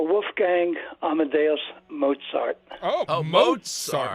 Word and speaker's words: Mozart: Gang Amad Mozart oh Mozart there's a t in there now okay Mozart Mozart all right we have that on Authority it's not moart no as I said